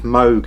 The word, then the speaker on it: Moog: Okay, first up we have the Moog Theremin, or Moog Theremin. Depending on which country you come from, but I believe Moog is the correct pronunciation.